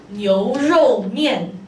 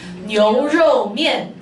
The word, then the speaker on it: 牛肉面: Okay, so it is called 牛肉面. Can you repeat after me one more time? 牛肉面. Oh, very good. Yeah, so make sure you have the tones right.